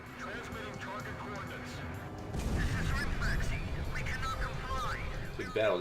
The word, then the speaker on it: Rimfaxi: Rimfaxi. It's an M, not an N. Okay, my bad. I was pronouncing it wrong before.